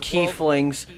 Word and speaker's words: Keflings: Keplinger I'm very far it's world of key flings that's how it's that's how you say it that's how it's pronounced I'm gonna kill you